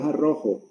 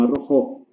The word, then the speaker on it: arrojo: Entonces, pero es arrojo o arrojo, no arrojó, porque con acento en la O en los diccionarios no está.